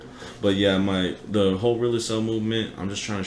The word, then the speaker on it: REAL ASL: too i personally wanna the whole thing is really cell that's how you pronounce it it's not real asl i'm just trying to say we're really sell